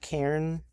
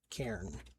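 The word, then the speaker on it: Cairn: It's called Karen. I don't know exactly how you like say it, but I know how you spell it. C A I R N. Karen, I believe is what it's called.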